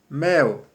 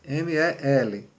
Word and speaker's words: mel: Então quando tem o L lá no final, mel, me-e-l, M-E-L, mel, U. Então quando o L vem no final da palavra ele tem som de U.